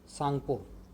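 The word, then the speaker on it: Tsangpo: उसका नाम क्या होता है, यारलंग सांगपो। सांगपो की स्पेलिंग टी से स्टार्ट होती है, तो वहाँ पे उसका नाम है यारलंग सांगपो।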